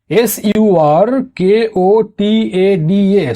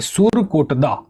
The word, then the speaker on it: সুরকোটদা: দেখো, এটাকে অনেক জায়গায় সুতকেদ্দাও বলা হয়, এর উচ্চারণটা সুতকেদ্দাও হয়, বাট ইংলিশে এটা SUR, সুর, KOTADA। ঠিক আছে, SURKOTADA, সুরকোটদা। ঠিক, তো সুরকোটদা, সুতকেদ্দা একই জিনিস, আলাদা আলাদা ধরে নিও না।